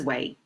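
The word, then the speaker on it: 囗: Pronounced as way, as a radical, we don't use it independently, just by itself.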